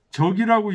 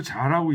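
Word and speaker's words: 積: 멀리 있는 사람이 갈 때는 이렇게 해서 안전하게 갈 수 있게 해주고 내적 그분이 다시 오게 되면 풍기위자 적이라고 읽지 않고 자라고 있습니다.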